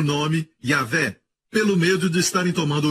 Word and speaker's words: Yahvé: Por isso muitas pessoas pensam que Yahvé é dono, é um mestre, mas não é. Foi por causa do medo que alguns judeus têm, porque quando eles veem Yud-Hei, Vav-Hei, que deve ser pronunciado Yahvé, eles dizem Adonai.